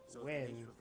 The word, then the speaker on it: Nguyen: I think the proper name to say it is Wen.